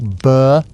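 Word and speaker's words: burh: What the heck is a burr? Pronounced like burr.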